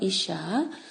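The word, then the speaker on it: אִשָּׁה: 이샤. 그리고 이제 남편은 이쉬 이렇게 발음이 되는데 그래서 남편으로부터 나왔기 때문에 아내다라는 그런 이제 그 이름을 그렇게 짓죠.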